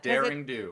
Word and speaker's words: derring-do: Derring-do. It cuz it's not even daring.